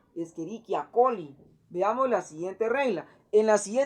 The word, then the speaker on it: Escherichia coli: que nos dice que si hay una letra C seguido de una letra H, o sea, CH, así como está aquí, se va a pronunciar como una letra K. Entonces ya no sería Escherichia, sería Escherichia, Escherichia coli.